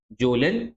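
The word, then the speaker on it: Kjølen: जोन मतलब के silent है जोन माउंटेंस।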